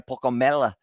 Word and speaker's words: Pokomela: It was a good run once again from, it was Junior Pokomela is the pronunciation there.